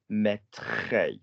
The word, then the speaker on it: mettrai: If your verb is mettre, mettrai, you literally join it onto the R you already have. So if your verb already ends with a R sound, you don't need an extra R.